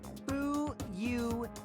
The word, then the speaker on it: Fuyuhiko: My first name is pronounced Fuyuhiko.